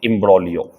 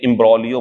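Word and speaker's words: imbroglio: देता हूं आपके लिए, इम्ब्रोलियो। जी साइलेंट कर दिया मैंने इसका, तो ये इम्ब्रोलियो बनता, ठीक।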